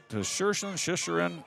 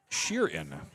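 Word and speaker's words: Tschiren: Uh I called him Shers Shisherin. I watch too much hockey. T S C H I Ren is pronounced Sheeran.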